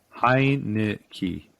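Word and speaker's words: Heinicke: who backs him up heineke heineke heineke high knit key did you get it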